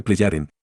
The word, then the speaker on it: Plejaren: metálicas que recibí de los Pejaren, pronúnciese Pleyaren, las que demostraron que